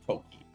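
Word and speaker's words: 時: Yep, so that is, so in this case it's pronounced Toki, and it means time. Toki.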